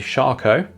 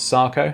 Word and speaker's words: Sarco: in units to the charcoal and the wild parrot Charco is apparently the pronunciation even though it reads as Sarco this is one of